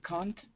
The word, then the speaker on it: can't: I can't swim at all. Tim couldn't work on the project. Good. So you're saying can't, which is fine. It's British. Yes. versus can't is American.